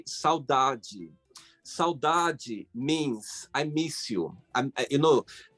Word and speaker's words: saudade: But yes, saudade is something that when you're gonna learn, like more deep, you're gonna understand. How do you spell it? SAUDADE.